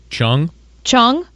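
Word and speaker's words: Chuang Chuang: to pronounce this um c h u a n g Chad how would you say that chong chong yeah chong chong the panda okay is just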